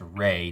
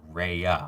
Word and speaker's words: Rhea: I'm 90% sure Rhea Seehorn's first name is pronounced Ray, not Rhea. I pronounced it Rhea last week.